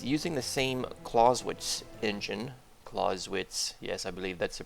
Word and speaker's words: Clausewitz: Clausewitz, yes, I believe that's the pronunciation.